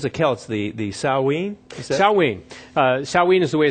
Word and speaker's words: Samhain: Samhain is the way it's pronounced. It's spelled Samhain, but you don't pronounce Gaelic by the way it's spelled with English letters.